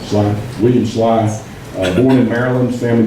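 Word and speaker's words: Schley: Williams, and I believe the pronunciation is Sly. William Sly, born in Maryland, his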